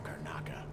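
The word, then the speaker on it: Karnaca: A long way from Carnaka. Oh, that's how you pronounce it.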